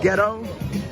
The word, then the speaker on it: ghetto: But if you want to pronounce it like in get like in ghetto, just put a gh.